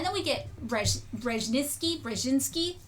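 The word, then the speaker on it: Brzezinski: And then we get Rej Rejinski, Brjinski, how do you pronounce his name? Bjinski. Bjinski.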